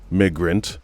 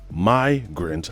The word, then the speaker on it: migrant: Now, unless I'm misunderstanding, the word Migrant, that's how you pronounce that, right? Immigration, that's how you pronounce that. Migrant, do you hear how you pronounce that I? Migrant.